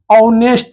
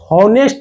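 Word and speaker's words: honest: आप होनेस्ट बॉय नहीं पढ़ सकते हैं। हनेस्ट में क्या होता है? ह आता है। ऑनेस्ट में क्या आता है? ओ आता है। तो ऑनेस्ट अगर हम पढ़ते हैं यह सही है। ऑनेस्ट यह गलत वर्ड है। यानी गलत आपका उच्चारण है।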